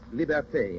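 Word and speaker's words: liberté: for Haiti L is for Liberty Liberty is pronounced liberte in hati and martinque libertad in the islands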